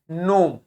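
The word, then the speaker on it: gnome: बाद एन लिखा है तो इसको जी को प्रोनाउंस नहीं करेंगे क्या बोलेंगे नोम ठीक है क्या बोलेंगे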